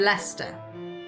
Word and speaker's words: Leicester: Gloucester and Leicester. Or Gloucestershire and Leicestershire. You got the glo and the less.